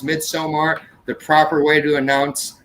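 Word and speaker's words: Midsommar: mid-summer and then like some people would say mid somewhere now everybody has accepted the proper way to say it is midsomar the proper way to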